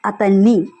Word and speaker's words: అతన్ని: Him atanni, you have to stress on syllable ni, atanni.